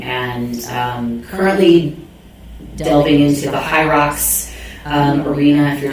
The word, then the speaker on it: HYROX: But also I'm familiar with kettlebells and weightlifting, Olympic lifting, and currently delving into the high rocks arena. If you're not sure what that is, it's spelled HYROX.